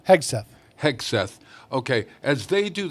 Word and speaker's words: Hegseth: Hex. How do you say his name? Hegseth.